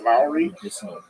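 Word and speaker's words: Loury: because it's a mixed population my name is Lowry spelled l r y but pronounced as if it were l w e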